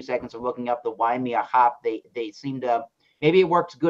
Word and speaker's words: Waimea: W-A-I-M-E-A. Oh, well, some crazy YouTube website called it Waimea, so I think you're right on how to pronounce it.